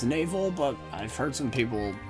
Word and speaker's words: Navel: area the 4 is navel or Nivelle whatever the heck you want to pronounce it it's supposed to be pronounced navel but I've heard some